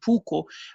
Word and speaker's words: puukko: I'm sure I don't pronounce it correctly because it's a Finnish term. It's okay, it's puukko.